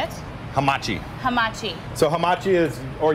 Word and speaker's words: Hamachi: Hamachi.